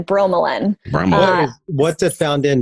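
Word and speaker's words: bromelain: B ro e m e la I n bro melon Ramon what's it found in besides pineapples for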